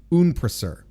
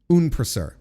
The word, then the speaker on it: Unpraseuth: We're supposed to pronounce it Unprasur. That's what Unpraseuth is pronounced. That's how it's pronounced, folks, in the English language. Unprasur.